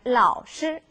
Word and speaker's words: 老是: 老是 선생님하고 발음이 비슷하지만요. 여기서 시는 경상으로 읽어주셔야 돼요.